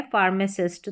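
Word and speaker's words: pharmacist: ही फार्मेसिस्ट क्या है फार्मेसिस्ट तो यहां पर भी फ के लिए हमने पीएच का यूज किया है चलिए अब बढ़ते हैं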